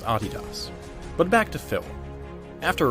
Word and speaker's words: Adidas: by the way that is indeed how you pronounce Adidas but back to Phil after writing that paper